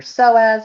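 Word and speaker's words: psoas: So, you're going to learn about your SI joint, the glute medius, uh your soaz muscle. Look, you can see how that's spelled. It's funny spelling, huh? The purformis muscle.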